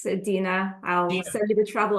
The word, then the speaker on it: Dina: particular um we have is it Dena or Dina it's Dena I'll send you the